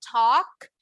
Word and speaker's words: talk: ¿Se acuerdan que ahorita les dije que talk no pronunciamos la L? es igual aquí. No voy a decir walks, voy a decir walks. Si se fijan, la palabra es muy parecida. Tenemos ALK. Talk, walk.